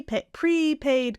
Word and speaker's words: prepaid: it's a g c syllable stress pre prepaid card prepaid card praid card and it's a prepaid